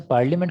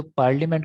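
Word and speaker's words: parliament: हमारे एक सियासतदान हुआ करते हैं जो पार्लियामेंट को पार्लियामेंट बोलते हैं, पार्लियामेंट। सही है। स्पेलिंग लिखते हुए ना मुझे ये ए हमेशा उनकी याद दिलाता है, ये पार्लियामेंट। वो ए को साइलेंट नहीं करते, वो इसे डेलिबरेटली पढ़ते हैं।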